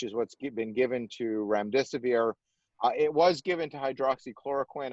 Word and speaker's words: remdesivir: So you've used the term remdesivir. Forgive me if I butchered the pronunciation.